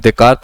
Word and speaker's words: Descartes: not call the person dekart right now but it's pronounced dekart but right now we'll